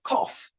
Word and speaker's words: cough: In the word cough, the letters G-H stand for the F sound.